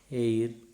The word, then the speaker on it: heir: H is silent. For example, HOUR, our, HEIR, air, HONEST, honest, HONOUR, honor, HONORO, RIM, honorarium, HONORARY, honorary, HONOURABLE, honorable.